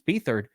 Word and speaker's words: Beathard: You know how many times people keep writing in on the comments that Beat Hard is actually pronounced Beathard?